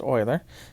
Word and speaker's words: Euler: e because it's named after leonard euler it's pronounced euler who discovered it and it's found by putting